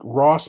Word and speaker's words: Arawz: Uh, so there's this YouTuber, effing Rawls or Ross, and it's like Ross, but it's spelled ARAWZ.